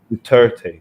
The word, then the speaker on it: Duterte: say his name i don't know how you pronounce it duterte yeah duterte duterte he waged a war on drugs over